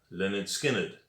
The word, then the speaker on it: Lynyrd Skynyrd: of all time and the album was called pronounced lynyrd skynyrd there you can see the guys outside the